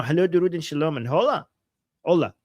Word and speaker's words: hola: Hello, Durud, and shalom, and hola. Hola, not hola. Hola. Am I pronouncing it right? Hola? The H is silent? Yes, probably. Yes, it's silent.